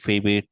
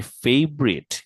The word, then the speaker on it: favorite: যে what is your ফেভারিট place to travel and ওয়াই, আপনারা জবাবে বলতে পারেন, খেয়াল করুন সবাই, মাই ফেভারিট। এটা কিন্তু ফেভারিট যদি আজকে কেউ বলছেন মার দিব ধরে, এটার উচ্চারণ হচ্ছে ফেভরিট।